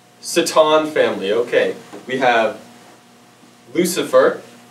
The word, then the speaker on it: Satan: now on my left here we have the Satan family wa it's pronounced saton saton family okay we have Lucifer Lucifer Lucifer Delila